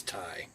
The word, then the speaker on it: Tay: It's spelled Tay, but it's Ty.